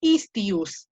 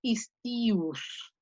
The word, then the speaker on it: istius: Fíjate, Fer, no es istius, se pronuncia istius, istius, porque tiene 3 sílabas la palabrita, es istius, istius, istius, istius, istius, istius, istius.